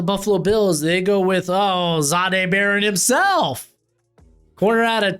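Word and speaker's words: Jahdae: I said Zade because that's the pronunciation.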